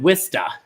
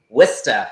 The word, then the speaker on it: Worcester: I know you pronounce your town, it looks like Worcestershire, but you pronounce it Worcester. Worcester, yes.